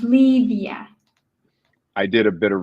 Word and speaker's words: Livia: For our listeners, that's pronounced Selona, Gura, and Livia is pronounced Livia.